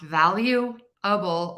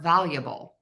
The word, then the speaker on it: valuable: of questions about this valuable can be pronounced valueable or valuable so I'm really reducing that middle syllable there invaluable that is